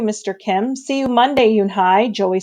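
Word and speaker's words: Unhei: Your name is Yoonhee? He asked, his eyes open and wide. Yoonhai looked quickly at Mr. Kim and then turned to Joey. She nodded slowly. Yes, it's pronounced Yoonhai.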